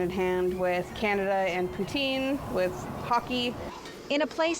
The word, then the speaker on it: poutine: But what exactly is poutine? It's actually poutine. Oh, I've been pronouncing it wrong.